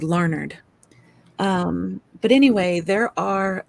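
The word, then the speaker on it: Larned: and there is one it's called larnard now it's spelled l a r n d but um people in Kansas call it larnard um you know it's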